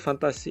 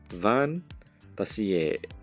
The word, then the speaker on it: Fantasie: event it's called fantasy it's not fantasy it's fantasie Yeah, I don't know how do you say it in English, but so fun to see here Mr.